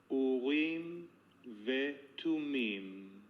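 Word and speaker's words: אורים ותומים: And I'm going to I once again recorded Elon giving us the Hebrew pronunciation. Layer 4 and 5. Urim vetumim.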